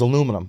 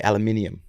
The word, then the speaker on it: aluminium: It was aluminum, or the people over the pond say aluminium.